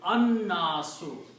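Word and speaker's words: النَّاس: And when you pronounce these together, you pronounce Noon twice, you don't pronounce Lam because Noon is a Shamsi letter. So it is An-Nasu.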